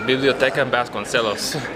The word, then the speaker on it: Biblioteca Vasconcelos: Biblioteca Vasconcelos. The Biblioteca Vasconcelos.